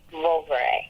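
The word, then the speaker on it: Vouvray: It's spelled V O U. Okay. V R A Y. Volvet.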